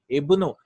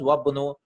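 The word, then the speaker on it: ابن: Ibnu. Right, when there's nothing before it, we are reading it as ibn, but if there's something after joining, we read it as wabnu, right?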